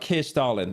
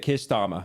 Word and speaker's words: Keir Starmer: It's not Keir Starlin. That's the bit. Keir Starmer.